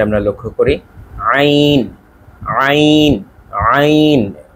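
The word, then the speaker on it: ع: তারপরের উচ্চারণটি আমরা লক্ষ্য করি আইন আইন আইন। একেবারে গলার মাঝখান থেকে ভেতর থেকে বলতে হবে চাপ দিয়ে, আইন আইন আইন এই অংশটি।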